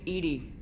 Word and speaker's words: EDI: Man, why are you named Edy? ED is the phonetic pronunciation of EDI.